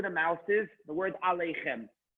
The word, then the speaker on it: aleichem: Number one, see where the mouse is, the word aleichem. The yud in this case is silent. Aleichem. The yud is silent.